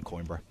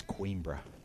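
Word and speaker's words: Coimbra: down the road from coin BR I'm pronouncing that wrong I know it's quebra I tell you what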